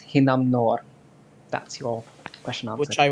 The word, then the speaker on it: Hinnamnor: area of expertise uh the typhoon's name is pronounced hinam noor that's your question which